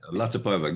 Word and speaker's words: Latypova: That's the pronunciation because it's not Ukrainian, it's Tatar actually. Okay, Latipova, good.